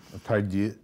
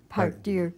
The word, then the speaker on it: Part Deux: title, because you are going to hear 9,000 pronunciations of this title. Pardieu. Pardieu. Pardieu.